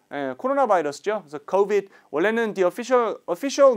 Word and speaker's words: COVID: COVID가 코로나 바이러스죠. 그래서 COVID. 원래는 the official name of the virus is COVID-19인데요. 줄여서 COVID라고 돼요. 발음은 O입니다. COVID. COVID가 아니라 COVID, COVID.